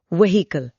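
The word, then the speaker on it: vehicle: 181 व्हीकल वाहन व्हीकल वी ई एच आई सी एल ई इसमें H silent है पर लिखना जरूरी है।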